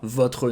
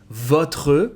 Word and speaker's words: votre: Here again, votre, you can devocalize the E and even the R and make votre nom. C'est quoi votre nom? That's going to sound more natural.